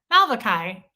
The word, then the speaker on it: Malvakai: My name is pronounced Mal, like gal, Kai. Malvakai.